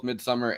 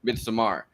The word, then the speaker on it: Midsommar: Aster's 2019 Midsommar, which apparently gets pronounced both Midsommar and, in some interviews I've seen, Midsommar. I refuse to pronounce it that way. Midsommar. Well, I think you're supposed to say Midsommar. Midsommar. Yeah. Midsommar. You have to sound like you're from IKEA to do that.